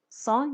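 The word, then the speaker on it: cent: خوان دیزنف میشه سان سان یعنی صد صدم که خب تلفظش معلومه دیگه اونطور که یاد گرفتیم کن سون تلفظ نمیشه آخر س آ تو دماغی میشه بعد اینجا هم باز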